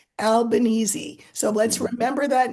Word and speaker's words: Albanese: I think I said Albanese. But anyway, Yeah. I was informed. People told me phonetically how to do it. Albanese.